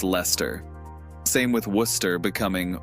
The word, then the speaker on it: Leicester: trip up on leicester it's not lachester it's leicester same with worcester becoming